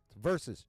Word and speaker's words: versus: versus swear to God every time people say verse I just want to versus two syllables here I'll put a type it in chat making me crazy hey malice that's the word spelled out verses two syllables not verse damn it yes I'm